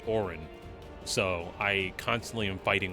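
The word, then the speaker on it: Auron: No, I pronounce it Oron, but the game pronounces it Orin.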